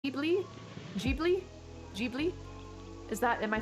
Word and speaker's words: Ghibli: white jib ghibli jeebly the japanese katakana pronounces g g ghibli jeebly so i was completely wrong i was saying like ghibli or ghibli so it's g jeebly all right i was